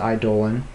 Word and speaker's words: eidolon: I'm gonna turn yeah baleful idolin or eidolon or edelon I pronounce it idolin and you know why Final Fantasy 13.